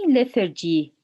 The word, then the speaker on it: lethargy: is the liturgy lethargy when we say lethargy where is the stress the stress is on the first part lethargy what about the